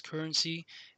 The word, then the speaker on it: CRNC: new form of currency, the cryptocurrency called CRNC, pronounced as currency, an utility token run on Ethereum ERC20 tokens.